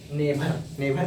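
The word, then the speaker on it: never: जैसे नेवर बोल रहे हैं, नेवर नहीं बोलेंगे, इसको नेवर बोलेंगे, नेवर। वो आर को स्लाइटली साइलेंट करेंगे।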